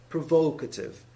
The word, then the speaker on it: provocative: provoke like this but if you make it an adjective you make it you change the stress by saying provocative provoke and then by